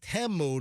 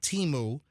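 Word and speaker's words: Temu: And apparently all the junk on Teu or a lot of it right now, uh, and it is pronounced Teu, not Teimu.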